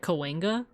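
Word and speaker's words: Cahuenga: unless you you live here, but it's it's pronounced like Kena, but it's spelled like Kohunga. And people people either say Kahunga or Kena.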